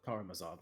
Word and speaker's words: Karamazov: She's reading the Brothers I can't pronounce. Karamazov. Karamazov, thank you.